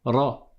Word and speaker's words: ر: qu'une seule fois et tu ne vas pas rouler la langue tu dis pas tu le fais pas comme ça mais tu le prononces une seule fois en disant RA rou ri d'accord ça c'est la